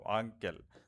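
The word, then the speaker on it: uncle: হবে দেখো খেয়াল করো আমি যদি বলি যে আঙ্কেল দেখো আঙ্কেল তার মানে এখানে ইউ এর যে সাউন্ডটা আঙ্কেল এখানে ইউ এর সাউন্ডটা হচ্ছে আ সাউন্ড আবার আমি যদি বলি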